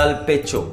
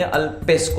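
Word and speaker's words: pecho: ला पियरना, जैसे मैं अगर आपको बताऊं, तो अगर आप इसे इंग्लिश स्टाइल में पढ़ेंगे तो आप नहीं पढ़ पाएंगे। या अल्पेचो, आप इसे पढ़ेंगे अल्पेस्को, अगर मैं इसे इंग्लिश में पढ़ूं तो अल्पेस्को।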